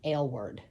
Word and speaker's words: Aylward: And it the way it made it sound was like ale word.